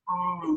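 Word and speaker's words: ॐ: Uchara manner, which means we'll pronounce it as A, resonating low in the body, U coming up around the heart center, resonating there, and the nasal sound, kind of the Om sound, kind of happening back here behind the eyes.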